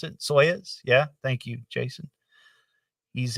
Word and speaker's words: Soyuz: During that 72 launch, the upper stage of the Soyuz rocket booster, I think that's how you pronounce it, Soyuz.